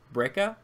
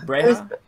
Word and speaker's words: Breha: never hear Bail or Breca, I think is how you say it. Breha? How do you say it? Hey, I think it's Breha. Breha. We'll go with that.